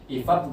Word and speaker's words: IFAB: IFAB juga yang IFAB kayak gitu bacanya.